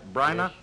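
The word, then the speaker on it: Bryna: of your own company Brynner Productions did I pronounce that right brainer yes you did and I'm happy you pronounced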